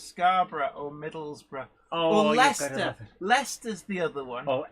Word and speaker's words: Leicester: americans trying to pronounce scarborough or middlesbrough oh leicester leicester's the other one oh edinboro as they say jade you know where lycester is it's like no i don't know where